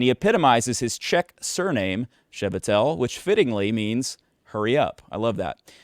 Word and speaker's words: Chvatal: Chvatal. Manischewitz. Chvatal. Okay. This is Dr. Brad Chvatal. If you didn't know how to pronounce that because you've only ever seen his